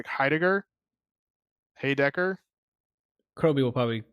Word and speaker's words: Heidegger: I forget what I don't even remember how to pronounce his name. It's Heidegger. Kroby will probably say the name. Yada. It's Heidegger.